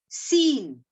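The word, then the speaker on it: scene: S C E N E, seen. So here, can you see? C is in a silent form.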